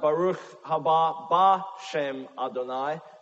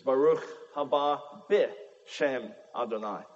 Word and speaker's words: Baruch haba b'shem Adonai: It is not Baruch haba b'shem Adonai. That is grammatically impossible. It is Baruch haba b'shem Adonai.